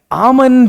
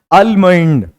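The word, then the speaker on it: almond: इसको पढ़ता था बट इसकी जो करेक्ट प्रोनंसिएशन मैंने देखा तो ये आमंड है इट्स नॉट आलमंड और यह तो मैं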